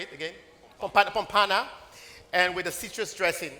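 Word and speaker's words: pompano: Pompana.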